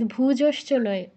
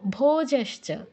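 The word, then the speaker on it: ভোজঃ: দুই নাম্বার আর অরিজিত ভুজ উকার নেই ভো ভোজাস বলো পুরোজিতে তুমি আবার কুতে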